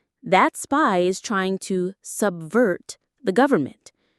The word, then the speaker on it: subvert: That spy is trying to subvert the government. The pronunciation is simple, just two parts. Sub subvert. Subvert. The stress is on the second syllable.